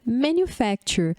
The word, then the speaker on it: manufacture: Uma outra prova é a pronúncia manufacture. Manufacture. Olha que legal o que acontece quando a gente aprende pronúncia silábica. Você consegue entender bem que o U fica com o som de IU, né?